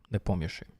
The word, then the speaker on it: Nepomniachtchi: Exactly like I pronounce now, Nepomniachtchi.